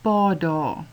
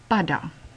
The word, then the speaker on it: padda: Padda het 'n kort A, en daarom word dit gevolg deur 'n dubbel D. Andersins sou jy dit uitgespreek het as pada. Padda.